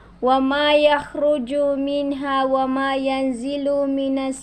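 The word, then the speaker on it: يخرج: Ya'lamu ma yaliju fil ardi wa ma yahruju min. Hindi yan ha, yan ay kha. Wa ma yakhruju minha wa ma yanzilu minas samai wa ma ya'ruju fiha.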